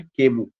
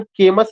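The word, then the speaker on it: Camus: The philosophy of Albert केमू। ये किसके philosophy से रिलेटेड है? Albert केमू। इसका प्रोनाउंसिएशन केमस नहीं होगा, यह साइलेंट हो जाएगा, केमू तक ही प्रोनाउंसिएशन हमें करना है।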